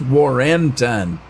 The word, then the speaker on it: Warrenton: No, it's Warrenton. It's E-N, not I-N-G.